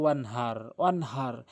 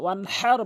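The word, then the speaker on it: وَانْحَرْ: এখানে ওয়ান হার বলতে হবে, হাটি হলকের মাঝখান থেকে উচ্চারণ করতে হবে।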